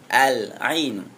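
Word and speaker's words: العين: Ahsan asadis yang keenam Ain alinu bukan Ail a ya Tapi bacanya sempurna Al Al Ainu Ain mata yang ketujuh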